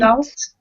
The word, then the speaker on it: results: and become an excellent Results. results No. and become an excellent No. Results. The second syllable is result. stress.